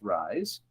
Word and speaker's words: Ries: lean startup by eric rise and i had to look up how to say his last name it's spelled r e or r i e s and it's pronounced rise so i went straight